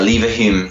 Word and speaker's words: Leverhulme: Am I pronouncing that right? Yeah, Leverhulme Trust.